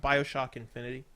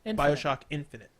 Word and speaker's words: BioShock Infinite: BioShock Infinity. Infinite? I didn't play Infinity. I played Is it Infinity, though? Because it's Infinite. It doesn't end in a Y. Infinite. BioShock Infinite.